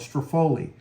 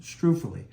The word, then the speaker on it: struffoli: she says it right when I was a kid I used to call it stui but uh this is the correct way to say it Stuy it's a it's an